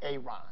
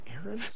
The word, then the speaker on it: Aaron: I'm just asking, I said it like 4 times, so why didn't you say it the first time I said Ron? Because it's pronounced Aaron?